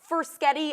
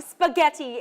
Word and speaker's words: spaghetti: And I used to call it when I was a little tot, Fursketty and meatballs. This morning, Kat's making spaghetti and meatballs.